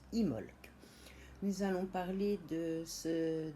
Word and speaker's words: Imbolc: parler du sabbat dimbok qui s'écrit imble que mais se prononce immolk nous allons parler de